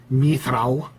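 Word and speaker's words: mithral: iron or yeah uh mithrao which i pronounced mithril but that's just me and a lot of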